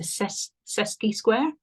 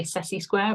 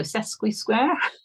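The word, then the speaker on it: sesquisquare: me, but it's a sesqui square. Okay, I want to say sessi square, but there is a Q in it. So sesqui square, which is kind of like a minor version of a square.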